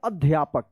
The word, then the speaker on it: अध्यापक: अध्यापक, अध्यापक मत पढ़िएगा, क्या पढ़ेंगे? अध्यापक। इसी तरह से आपको लिखना भी है।